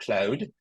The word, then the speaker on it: Claude: So I want to introduce you to, if you haven't already met it, this is a tool called Claude, or I like the woman's pronunciation much better, Claude.